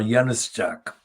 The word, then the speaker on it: Januszczak: And this piece is bylined by Waldemar Januszczak. Now, Waldemar Januszczak is of Polish origin, and Januszczak is spelled J, not A.